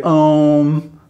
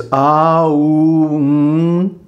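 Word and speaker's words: ॐ: But people gloss over the correct pronunciation and they just say om, you know, which is completely disempowering the mantra. It's āūṁ, and then half a beat of silence. And the last nasal N is pronounced for just as long as the other letters.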